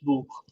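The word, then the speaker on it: Buch: में से कोई भी वो आता है तो ख का साउंड निकलता है। ख का मतलब खरगोश वाला ख। है ना? खरगोश वाला ख। ख कौन सा? खरगोश वाला। बहुत ही बेसिक से समझना। बिल्कुल भी चीजों को नहीं करना। साउंड निकलता है। बिल्कुल भाई समझ में नहीं आया सर कैसे निकलता है। अब हम समझाते हैं कैसे निकलता है। अब देखो बस जैसे मैंने कोई वर्ड लिखा बूक बी यू सी एच बूक।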